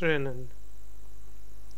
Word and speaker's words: rennen: Ich hau nicht Pfann het rennen. Ich hau nicht Pfann het rennen. R is with the trill R.